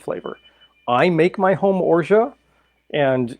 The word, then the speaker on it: orgeat: And if you don't hear someone pronouncing it orgeat, but pronouncing it orgeat, orgeat, orgeat, anything, orgeat, anything along those lines, this is what they're talking about.